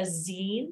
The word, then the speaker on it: zine: is what's called a Zine if you've ever made one of those think of the word magazine but like the the last you know syllable of that Zine and so what you